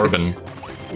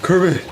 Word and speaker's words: Kirby: I'm sorry, you said it wrong. You think Korben. No, it's Kirby.